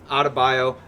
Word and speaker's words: Adebayo: Adebayo.